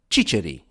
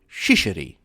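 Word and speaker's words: ciciri: to show them chickpeas, which are chi-chi in Italian, but chicheri in Sicilian. Supposedly, the French could not pronounce this word and would come out with shisher, sealing their own doom.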